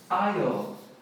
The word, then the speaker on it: aisle: Por exemplo, corredor do mercado ou corredor do avião, do ônibus, é aisle. É a mesma pronúncia da ilha, mas olha como escreve aisle.